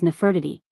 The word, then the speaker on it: Nefertiti: lower Egypt hennichomeu nwtmw9 while modern Egyptological pronunciation renders her name as nefertity her name was the sentence nfrtj or nfr.tjy.tj TJ 10 meaning the beautiful one has come and probably contemporarily pronounced Nafta from older Nafraida or perhaps Nafidi 11 12 And like